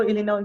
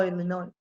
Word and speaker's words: Illinois: I moved to Illinois, to Chicago. Oh, okay, yeah. Huh? You know, in we don't pronounce the S on that state in English, Illinois. Oh, Illinois.